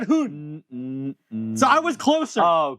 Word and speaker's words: Gi-hun: If it's H-U-N, you don't say it like woo. It's one of these short ones. We are looking at how to pronounce these character names as well as Erong, a character from Squid Game series, TV series, Song Gi-hun. Woon. He has a woo. He didn't say woo! He said hoon.